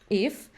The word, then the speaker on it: IF: name of our model if is inspired by the song If by uh Pink Floyd very cool I was wondering yes I think yeah yeah so you pronounce it just if that's cool yeah I